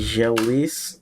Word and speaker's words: želiš: Želiš li Ž, ž, se ž, ž. že želis So the želis S at the end is pronounced sh, like želiš sh.